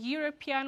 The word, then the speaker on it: European: ኤ። ስለዚህ European boy ስትሉ even though the spelling is e the pronunciation is not a vowel sound.